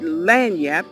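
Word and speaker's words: lagniappe: word or what it meant but that word LAN yep and that's how you pronounce it it means a little extra just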